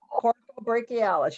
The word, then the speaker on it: coracobrachialis: So you've got the clavicle head, anterior deltoid, and I'm gonna butcher this, coracobrachialis. Yep, coracobrachialis.